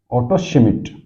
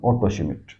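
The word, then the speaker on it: Otto Schmidt: ये दी थी एक रशियन ज्योग्राफर थे, ऑटो शिमिट। डी साइलेंट रहेगा, ध्यान रखना, ये बहुत फेमस है, ऑटो शिमिट।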